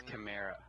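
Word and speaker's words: Kamara: of thing when it when are you gonna pronounce his name correctly its camara Tamara come on Tamara come there I like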